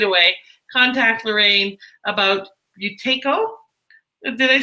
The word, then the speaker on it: Buteyko: of other benefits right away, contact Lorraine about Buteyko.